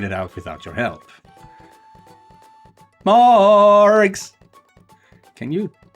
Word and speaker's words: Morgs: M-O, Morgs, and with a hard G. Not a soft one, just so there's no confusion.